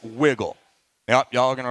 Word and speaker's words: WGLL: So WGLL, pronounced wiggle.